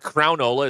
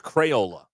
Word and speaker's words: Crayola: It's not Crownola, it's Crayola. Get it right.